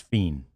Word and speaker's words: Fien: The release said it's pronounced fiend.